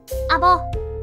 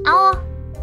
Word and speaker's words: 阿保: 出どうかな正解はあおですよその土地ではアボという読み方もあるけど大阪府松原市のこの地名はあおと読みます第 2 問大阪